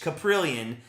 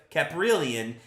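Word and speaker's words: Kaprielian: it's K like k-u-h caprillion uh some people called it caprilian and I don't think it's a cap I think it's a Ka so caprillion takes the mound Quan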